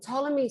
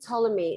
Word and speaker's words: Ptolemy: name was ptolemy and ptolemy spelled with it with a p t ptolemy it's greek because when